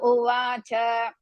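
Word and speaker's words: उवाच: You should not pronounce in the middle. Let us start beginning. Sanjaya uvacha.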